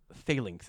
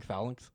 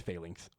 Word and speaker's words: phalanx: the answer of the, apparently it's called phalanx is how I've been hearing people pronounce it now, audibly, because I've been saying phalanx. Apparently it's phalanx.